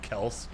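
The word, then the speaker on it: Kelce: wasn't lying to me his last name is pronounced Kel but they've just kind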